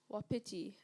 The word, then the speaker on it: wapiti: Wapiti. Am I pronouncing the word correctly? Yes. Please, may I have the part of speech? It's a noun. Wapiti.